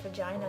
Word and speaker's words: vagina: Yeah, but let's be honest, the word vagina has a G in it, and it's pronounced with a j, not a g.